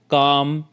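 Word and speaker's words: calm: इसी तरह से नीचे दिए गए वर्ड्स हैं उनमें भी L साइलेंट है, इनको आपने किस तरह से बोलना है, काम, टॉक, शुड, हाफ, स्टॉक,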